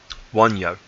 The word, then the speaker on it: Wunjo: Spelt Wunjo, so you might hear it like that, or you might hear it pronounced Win or Wen, because they're different. Things are dropping. There are different, obviously, words that exist within the Lesser futhark script and the Anglo-Saxon script, but Wonyo is the way that we pronounce it in the Elder futhark.